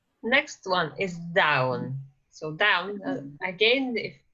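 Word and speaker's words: dubh: named okay so next one is down so down again if it's written like this but it's pronounced as bounce so down that is brown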